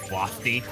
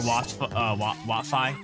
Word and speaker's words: Watfi: I love that as a name, Wafty. Yeah. Or I'm sorry, Watfi. That's what it is.